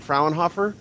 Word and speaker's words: Fraunhofer: pronounce things terribly uh how was I even close by saying frenhofer yes pretty much very good close enough okay so I wonder if